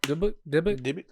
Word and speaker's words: Dybbuk: Dybbuk box.